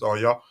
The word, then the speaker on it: Uyo: Some people pronounce it Uyo, some people pronounce it Oyo.